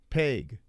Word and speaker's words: Pague: Dustin Pague, I would think. Pennsylvania, home cooking here. Oh, Pague or Peg. Pague. Okay. Here we go, guys. Get ready. The main event. Don't blink. Let's see. Pague versus Angelcor.